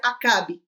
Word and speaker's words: Acabe: Mas sabemos que esse nome Acabe é de origem hebraica e no inglês, por exemplo, é pronunciado em Reb. Mas aqui em português vamos ficar com a pronúncia Acabe, o capitão Acab.